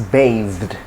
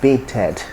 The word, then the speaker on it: bathed: So, and the past tense is bathed, not baited.